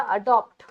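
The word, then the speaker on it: adapt: और एक वर्ड होता है बेटा एडेप्ट। थोड़ा इनका प्रोनाउंसिएशन चेंज हो गया, देखो। अडॉप्ट माने गोद ले लेना, अडेप्ट माने चेंज होना, बदल जाना, और एडेप्ट मतलब क्या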